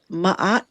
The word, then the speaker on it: Ma'at: But I want to start with the name of your company, Ma'at Tree House.